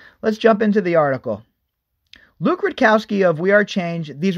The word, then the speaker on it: Rudkowski: One staff member was seen just a few feet away from Rudkowski with fresh towels in one shot. All right. That last bullet point, they spell Luke's name wrong. It's Rudkowski, not Ridkowski. Make sure you check those dudes out over at We Are Change.